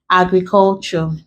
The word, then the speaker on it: agriculture: Example, Ture, agriculture. If we break, we have the word has four syllables. So we're not even counting because we are stressing it on the first syllable.